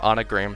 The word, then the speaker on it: Anna Graham: unspoken joke is that her name anna graham sounds like the word anagram okay in start annie